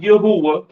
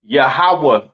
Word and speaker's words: Yahweh: it's not Yahweh right it is pronounced yahawah in the Hebrew all right yahawah in